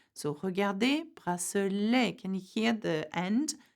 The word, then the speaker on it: bracelet: Now, sometimes, however, when the word ends with an et, it has more of a e sound.